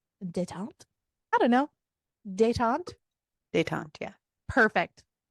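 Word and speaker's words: détente: I can't pronounce it. Detente? I don't know. Detente? Detente, yeah.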